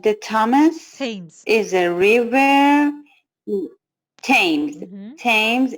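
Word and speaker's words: Thames: gut now number five okay H the Thomas tames is a river tames tames is a river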